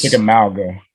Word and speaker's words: Chickamauga: Chickamauga, I think is how you say it.